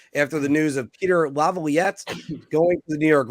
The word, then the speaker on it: Laviolette: time together yesterday after the news of Peter Laviolette going to the New York Rangers. I screwed it up. Damn it. Laviolette.